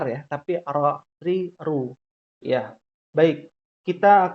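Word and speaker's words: ر: Jadi dia satu barisan tuh, tingkatan pertama paling dalam la, tingkatan kedua na, dan yang paling ujung ro.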